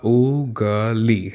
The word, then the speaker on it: उंगली: इसे इस तरह से लिखा जाएगा उगली, है ना। ऊपर जो है चंद्रबिंदी लगी हुई है और जब चंद्रबिंदी लग गई है तो इसका जो उच्चारण है वो कैसा होगा, उंगली, है ना।